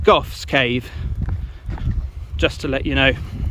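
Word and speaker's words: Gough's Cave: That might be pronounced Goff's Cave, just to let you know.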